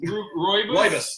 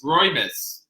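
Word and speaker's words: rooibos: How do you say rubius? Rubiois? Roibus. Roibus.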